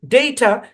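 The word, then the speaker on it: data: ওইটা আরেকবার দেই তো ডেইটা এই শব্দের মধ্যে দুইটা সিলেবল আছে এখানে এ বরাবর ভাগ হবে এখানে একটা সিলেবল এখানে একটা সিলেবল এই শব্দের মধ্যে এই বরাবর চাপ পড়ে ডেই ডেই এখানে চাপ পড়ে আর এখানে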